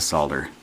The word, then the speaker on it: solder: will suck up the solder I just love pronouncing ing solder the right way because it is derived from the word solid folks is in to make solid so you squeeze the